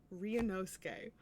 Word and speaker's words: Ryunosuke: Ryunosuke.